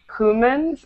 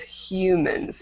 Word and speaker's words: humans: Make sure you're not saying humans, it's humans. Human.